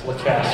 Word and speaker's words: Lacasse: was like, Juror Lacasse. And then he said, am I pronouncing your name correctly? I was like, yes, Lacasse.